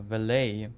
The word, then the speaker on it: valet: Use French pronunciation of valid and rhymes with delay. Uh valet vlay.